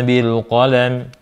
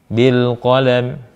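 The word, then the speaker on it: بِالْقَلَمِ: Cara bacanya, lam dibaca jelas, tanpa ditahan, tanpa dipantulkan. Bil qalam, bukan bil qalam, atau bil qalam, gitu kan. Kemudian, qafnya tebal, qo, lamnya tipis.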